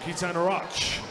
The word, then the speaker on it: Keaton Roch: Keaton then out in front after 50, swam very well yesterday and told me how to pronounce his name. So there you go, Keaton Roch, ladies and gentlemen.